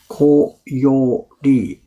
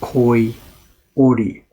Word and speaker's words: koyori: of paper string, is koyori. Koyori. I guess I didn't pronounce it very well yesterday. It sounded like koi ori, folded fish. It didn't make any sense. So it's koyori.